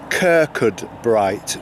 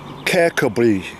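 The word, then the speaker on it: Kirkcudbright: a sign saying that the english way of pronouncing this is kirkud bright which is exactly as it's spelt but as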